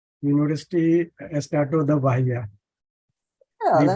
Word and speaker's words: Bahia: you pronounce? University Estado da Bahia.